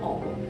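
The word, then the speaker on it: を: Nah, o-nya itu partikel walaupun diucapkan o, tapi ditulis dengan wo.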